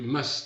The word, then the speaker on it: must: On ne prononce pas le T, on you must stop.